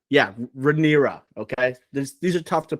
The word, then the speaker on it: Rhaenyra: Rhaenyra. Yeah, Rhaenyra. Okay, these are tough to pronounce, especially because we don't have a great familiarity with them yet.